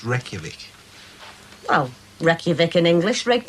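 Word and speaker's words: Reykjavík: reykjavik nearly that's right rake jarvik reykjavik it's pronounced reykjavik well reykjavik in english red jarvik and icelandic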